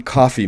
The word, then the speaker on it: Coffey: Best line or memorable quote, John Coffey, ma'am, like the drink, only not spelled the same.